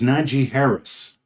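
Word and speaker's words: Najee Harris: are you trying to are you trying to mispronounce his name on purpose what's his name his name is niji Harris that's what I just said no you you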